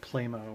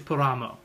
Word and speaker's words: Plamo: Someone was complaining about my pronunciation of Plamo. I said Playmo when I was in a store. Okay. It's actually Plamo.